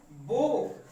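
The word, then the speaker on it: bow: तो देखिए इसका उच्चारण जो हो रहा है, प्रोनाउंसिएशन जो हो रहा है वो ओ आ रहा है, यानी कि यहीं पर आपका प्रोनाउंसिएशन खत्म हो जा रहा है, डब्ल्यू की जरूरत ही नहीं पड़ रही है, वो।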